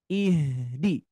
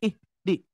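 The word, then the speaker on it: اهدنا: ee Alfatihah di sini ihdi ihdi nah itu ya harus mengalir ya jangan sampai ih di ih di tapi ihdi oke ya ihdinatal mustaqimah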